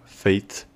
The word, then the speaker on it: fate: a la palabra destino feits esto suena muy similar a como decimos fe pero finalizando el sonido con una t feits feits de esta